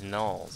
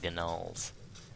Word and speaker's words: gnolls: he's the same guy, when he says gnolls, if you listen closely, he actually pronounces the G's and says gnolls. Not quite as hard as I just pronounced it. But you can hear the G, it's funny.